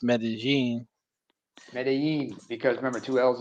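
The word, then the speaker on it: Medellín: he I don't took know if I over can trust your Spanish pronunciations because you mispronounced Medellin.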